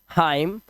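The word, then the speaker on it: hymn: जैसे यहां पर एम के बाद एन आया तो इसे पढ़ते हैं डैम N silent हाईम एनसाइलेंट column N silent और ऑटम साइलेंट क्या है हमारा एन यहां पर साइलेंट है डैम मतलब लानत है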